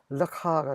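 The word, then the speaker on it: לְךָ: 너에게 할 때도 카프를 쓰고 발음도 아 발음이 나는 것입니다. 그래서 발음을 하면 르카가 되죠. 르카가 되는 것입니다. 르카.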